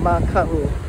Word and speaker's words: Maka'u: This M-A-K-A glottal stop U spelling means to be afraid, and there could be a kako, a macron above the A. Maka'u.